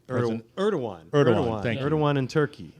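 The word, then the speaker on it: Erdoğan: Erdogan, Thank you.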